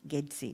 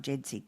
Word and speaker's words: GEDSI: of this grant is referred to as GEDSI, not JEDSI, GEDSI, because you're using the Indonesian pronunciation.